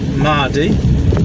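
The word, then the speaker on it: Maerdy: So, um I've just picked up my load from it was actually Ferndale, a place called Mardi, spelled M A E R D Y.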